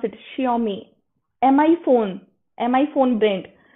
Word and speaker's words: Xiaomi: this is the spelling i have written correct jiaomi uh xiaomi how we pronounce it xiaomi mi phone mi phone brain so now you